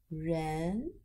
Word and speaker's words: 人: It is 人.